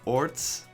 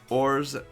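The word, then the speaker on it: orz: There's no set way to pronounce it. People, they pronounce it as orts, ors, or ors.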